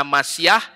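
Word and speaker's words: משיח: Ini Masiah bacanya Mem, Sin, Yod, Het, dibacanya Masiah, ini Yisrael.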